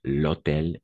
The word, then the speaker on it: hôtel: Pourquoi? Parce qu'il y a le H muet. Et de la même façon, ici, on va faire la liaison. D'accord? Même avec le H muet, parce que le H est muet.